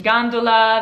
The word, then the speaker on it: gondola: the canals of venice gondola the g is followed by an a so it's a hard g sound like the english word gain now if a g